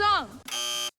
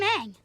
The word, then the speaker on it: Aang: It's Aang, movie. My name is Ong. I'm Aang. It's Aang.